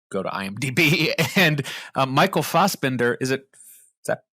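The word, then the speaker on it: Fassbender: sure anybody would go to IMDb and Michael fosbender is it is that how you pronounce his name Fender fast Bender but um he um had to actually work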